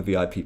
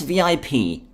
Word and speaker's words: VIP: Black permanent marker what's VIP Ike asks he pronounces the acronym as the word rhyming with zip oh sorry I what's